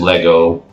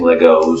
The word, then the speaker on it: Lego: And I know, for you purists out there, the correct term is Lego. Lego is the plural of Lego. But I grew up like most Americans saying Legos, so it comes out sometimes.